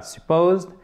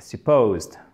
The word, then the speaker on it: supposed: ok, oui, c'est vrai, l'accent tonique, il a mis supposed. C'est pas supposed, c'est pas supposed, c'est pas supposed, c'est supposed. OK? Accent tonique au milieu.